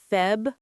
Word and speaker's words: February: And February is February. Include that first r.